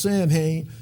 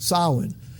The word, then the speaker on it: Samhain: solid and again it looks like should be pronounced Samhain but actually when I'm what I've learned it as pronounced solid and you see that the first of November